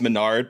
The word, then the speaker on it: Mesnard: the same boat CU my last name is Menard but it's spelled mesnard and so I just